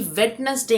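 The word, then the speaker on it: Wednesday: ये actually वेडनेसडे नहीं है। यहां पे डी नहीं आएगा। डी साइलेंट हो जाएगा।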